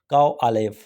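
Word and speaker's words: Ковалёв: Number 1, major काओ आलेव। थोड़ा सा नाम डिफ़िकल्ट है because it इज़ a Russian name, तो एक दफ़ा इसकी प्रोनाउंसिएशन देख लीजिए।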